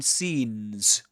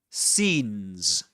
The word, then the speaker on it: scenes: The opening scenes. Scenes. That's the way you pronounce it. and the way he pronounces it sins.